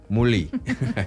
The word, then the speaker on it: Moulis: Se escribe Moulis, pero se pronuncia aparentemente Mully.